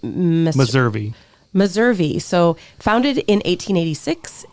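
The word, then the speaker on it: Meservey: Uh but yeah 14.9 miles from Ventura and it's um pronounced Missouri.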